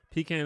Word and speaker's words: pecan: Pecan is how they say it in the South, and pecan is how most people say it.